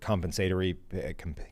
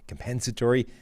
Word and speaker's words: compensatory: like impacts uh for compensatory compensatory pick formula all that kind of things like hate when you put the emphasis on the wrong syllable early in the word and you can't that